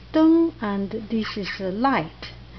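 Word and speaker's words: 灯: So this is traditional, this is simplified, it pronounced deng, and this is a light, lamp actually, more like lamp, yes.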